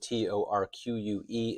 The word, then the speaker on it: torque: This word T-O-R-Q-U-E is pronounced torque, rhymes with fork.